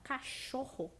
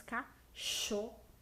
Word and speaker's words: cachorro: Porque quando a gente fala cachorro, nós falamos sh-ro. Nós falamos cachorro. Um som bem semelhante à letra X.